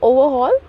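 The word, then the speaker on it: overhaul: hall देखिए यहां पे आ आर जो है ना उसे हम थोड़ा सा साइलेंटली प्रोनाउंस करेंगे इसलिए जब यहां पर मैंने उसका प्रोनंसिएशन लिख रखा है हिंदी में तो आर मिस है ठीक है ओवरल जिका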